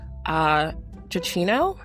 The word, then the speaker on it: Giacchino: His name is Michael, I'm sorry if I pronounce it incorrectly, Giacchino, I want to say.